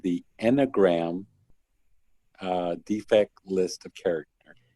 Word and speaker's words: Enneagram: And this list is called and I'm going to really mispronounce it, but it's called the Enneagram Defect List of Character.